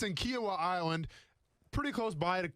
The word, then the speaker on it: Kiawah: shake every day quinoa so it sounds like quinoa but but it's kiawah okay it's good quinoa